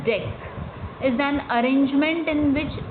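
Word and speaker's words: deque: DQ pronounced as deck is an arrangement in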